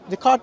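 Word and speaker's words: Descartes: this this cartes however the card is how we pronounce it yeah so basically that's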